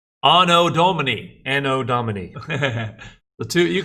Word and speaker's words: anno Domini: older and then you have 80 which is pronounced anno domini no dominique the two you can say it